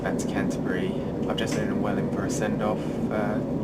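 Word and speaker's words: Welwyn: I said I was up in Welling now that is spelled w l Wy n which can obviously be mistaken for well win and I fell out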